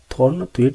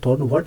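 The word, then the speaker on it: Thornthwaite: हालांकि हम प्रोनाउंसिएशन करते हैं तो आपने बुकों में देखा हुआ, थॉर्नवेट नहीं बोलते, इसे थॉर्नवर्ट बोलते हैं या थॉर्नवेट बोल देते हैं।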